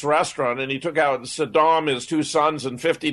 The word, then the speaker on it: Saddam: pronouncing his name correctly it's not sodom it's saddam hussein and uh your position in